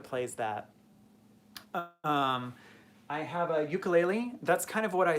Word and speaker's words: ukulele: And there are some people that just play ukulele, or ukulele, as it's actually pronounced.